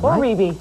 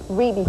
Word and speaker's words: Rebbie: were the first one Reby Reby thank I heard about yesterday yeah but you know what it's the way it's spelled it's a natural thing to call it re looks like Reby so how you doing